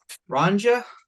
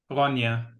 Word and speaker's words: Ronja: Ronja? No, Ronja. Oh, it's that weird Scandinavian JY thing. Huh. Think of it as like an I, more or less.